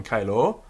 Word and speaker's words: caelo: Sicut in caelo, sicut in caelo, a long O on caelo.